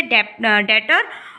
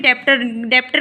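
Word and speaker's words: debtor: इसके 2 टर्म हैं, जिसे डेटर और बिल रिसीवेबल। आप बोलोगे इसमें डेप्टर क्यों नहीं बोलते? इसमें बी साइलेंट है, इसे हम डेटर बोलते हैं।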